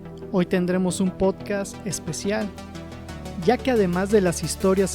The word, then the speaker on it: Ja: aquí hago un paréntesis se pronuncia ya ambas significan lo mismo